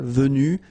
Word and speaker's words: vue: you don't pronounce them so basically you've get the pronunciation v v v and then the same thing V you don't pronounce this final uh V you don't pronounce the final S V you don't pronounce the final s either same thing here Vue and same thing here Vue you don't pronounce uh s so phonetically you only